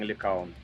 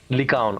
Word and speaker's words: Lycaon: Well, it's Greek, so I think there's no way to put it right. But we are saying Lycaon. Lycaon.